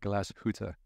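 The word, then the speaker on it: Glashütte: more time I love it glass H yeah glass huta um but yeah know amazing people to work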